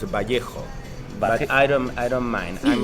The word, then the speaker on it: Vallejo: It's not Vallejo, that's not how you pronounce it. It's Well, Vallejo? The right way to pronounce that, because it's a Spanish name, is Vallejo.